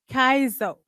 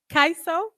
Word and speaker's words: Kaiso: her Discovery and naming of a new Gene Kaizo I hope I'm pronouncing it right kaiso kaiso okay thank you so much uh coined